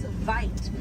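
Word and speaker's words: wyd: Original word for white rhino was vite. Vite means wide in Africans, but over time it was misheard and mispronounced and it turned into the white rhino.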